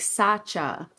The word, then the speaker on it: Sacha: Her name is said like Sacha with the CH sound.